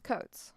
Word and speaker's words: Coates: Coates.